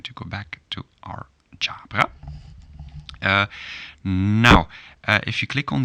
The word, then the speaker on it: Ġabra: click true well you get the phonetic so different independence for the pronunciation jabra part of speech well